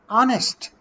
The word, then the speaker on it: honest: Honest. Here in this word, H is silent. That's why we pronounce it honest.